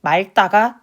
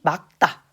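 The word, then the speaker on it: 맑다: 그리고 기억을 읽었기 때문에 이것도 마찬가지 여러분 같이 리을 기억이기 때문에 이것도 마찬가지로 막다라고 읽으셔야 됩니다. 하늘이 말다가 아니에요. 하늘이 막다 책을 읽다라고 읽으셔야 됩니다.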